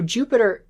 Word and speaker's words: Jupiter: But the thing is, a J in Latin actually has a Y sound, a Y. So Jupiter is more accurately pronounced as Jupiter, and in Old Latin,